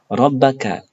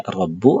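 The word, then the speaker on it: رَبَّ: Mengapa kita membacanya sebagai "rabba"? Bukan "rabbu" atau "rabbi", karena "rabba" di sini dipengaruhi oleh fungsi "anna". Jadi, kata tersebut menempati posisi kata benda dari " anna."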